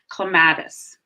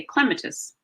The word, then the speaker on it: clematis: why it's different so in the US we usually say clematis that's how I would say clematis but if you were talking to someone from England about this plant they would say Clement as' and the reason for that is they just put the emphasis on a different part of the word because the vowel is